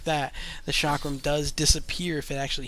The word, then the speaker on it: chakram: I believe this is chakram as the pronunciation. Some people will say chakram, but I think it's actually chakram.